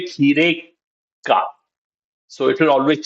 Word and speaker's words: खीरे: when lot of times when we will use words in a sentence, the a sound at the end kheera will become kheere. And when does it become kheere? Whenever we have a small preposition like ka after it.